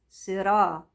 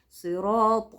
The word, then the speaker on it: صراط: اهدينا الصراط المستقيم المستقيم صراط الذين انعمت عليهم صرا صا قلنا الراء بتفخم لو مفتوحه مش كده او مضمومه طب هي مفتوحه صراط ما اقولش الصراط صراع صراع لا صراع صراط الذين تمام تمام تمام صراط